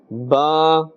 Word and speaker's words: ب: When we look at Ba, Ba is pronounced from the wet part of the lips, both lips, and Meem is pronounced from the dry part of both lips.